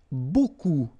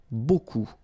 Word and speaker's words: beaucoup: without the article if you want to use beaucoup beaucoup means a lot of a look it